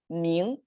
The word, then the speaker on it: 明: So with, okay, it's pronounced as 明.